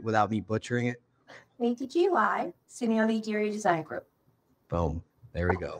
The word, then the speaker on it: Simeone: the show, Gina and Lisa from the KTGY Simeone. Yes. Did I say it right? What you did. Simeone, yeah.